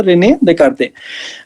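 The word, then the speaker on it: René Descartes: कार्टेशियन system जो है, रेने देकार्ते नाम के एक फ्रेंच मैथमेटिशियन थे, स्पेलिंग तो उनकी अलग सी होगी, कुछ प्रोनाउंसिएशन होता है रेने देकार्ते।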